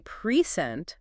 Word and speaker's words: present: But if I say present with the stress on the second syllable, it's a verb to give something.